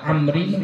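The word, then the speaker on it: عمرو: Dah tahu kapan dibaca Amrin, kapan dibaca Umar? Kalau pakai waw dibaca Amr, ya, Amrin, Amrun, Amran, ya. Kalau nggak pakai waw dibaca Umar, Umaru, Umara, ya.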